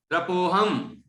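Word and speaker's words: त्रपोऽहम्: त्रपोहम, वो जो हा के पहले जो लगा हुआ है वो अवग्रह चिन्ह है, और अवग्रह चिन्ह का कोई उच्चारण नहीं होता है।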